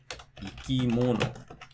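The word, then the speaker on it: 生き物: Or maybe it drops after the third syllable, like ikimono.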